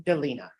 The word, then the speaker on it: Delina: versus how do you pronounce your first name Delina Delina I've been mispronouncing it forever uh state of Texas versus